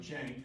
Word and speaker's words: Cenk: And then it's not pronounced Cenk, it's pronounced Cenk, and you got to explain that to people.